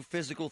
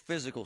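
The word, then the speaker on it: Fyzical: You want a new physical therapy experience? You want a treatment plan centered on you? Monroeville Physical, spelled F-Y-Z-I-C-A-L, is spelled different, because they are different.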